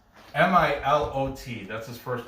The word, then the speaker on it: Milot: Okay, the player to watch over at Werder Bremen is Milo or Milot. It's Milot. That's his first name. I'm gonna say the T is silent and say Milot. Milat.